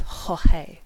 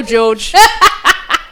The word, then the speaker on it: Jorge: had heard that the main person's name that we talked to is pronounced Jorge. Jorge. Yeah. So I went and being like, I'm gonna be polite and pronounce Hola, his name Jorge. as he would pronounce his name.